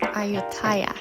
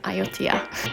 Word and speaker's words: Ayutthaya: later we think it's actually pronounced ayataya not iotia okay bought some jeans